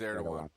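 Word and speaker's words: Erdoğan: I don't know why the G makes a W sound, but it does. So that makes me an expert on Turkey. Because his name's spelled Erdogan, but it's pronounced but it's Erdogan.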